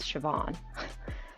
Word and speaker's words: Siobhan: how it's written but it's her name is pronounced Siobhan but like spelled in the Irish spelling but